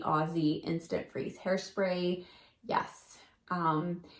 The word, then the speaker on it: Aussie: has seen the light I say Aussie usually but I've been told I'm saying it wrong it's really aussy instant freeze hairspray yes